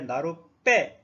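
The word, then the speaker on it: 나룻배: 나루배 이렇게 되었는데 나루빼 이렇게 된소리가 됐다는 뜻입니다.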